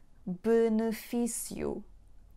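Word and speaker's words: benefício: So the reason for the letter E being read as y is not just the combination of E, O, but it's because it stands between two vowels. Okay, so let's find another words with two syllables or more syllables that have the combination of letters E, O when we actually read them as you.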